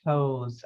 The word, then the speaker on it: Toews: And the Canadian writer Miriam Toews, I think is how you say her name.